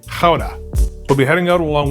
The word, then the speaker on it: Gouda: leaving newagen and off to GA or as the locals say Howa we'll be heading out